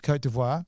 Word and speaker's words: Côte d'Ivoire: You've got gold mines that are in if you could pronounce this correctly, Côte d'Ivoire. It's Côte d'Ivoire.